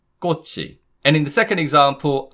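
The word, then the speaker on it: 꽃이: So, this is pronounced kkochi kkochi.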